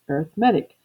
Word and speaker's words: arithmetic: that this word is arithmetic which is true but it can also be pronounced arithmetic which is the way it is pronounced when you are talking about an arithmetic sequence an arithmetic sequence is